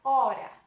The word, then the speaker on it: hora: Agora a palavra hora. Se tirássemos a letra H da palavra hora, como ficaria? Isso mesmo, continuaria hora, porque nesse caso o H está no início da palavra.